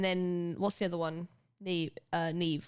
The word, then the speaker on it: Neve: Yeah, Neve is pronounced like that. Isn't it weird? Like Maeve, yes.